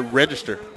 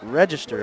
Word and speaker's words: Register: What's pronunciation of number 9 there, RJ? Number 9, Chandler Register. Register, all right.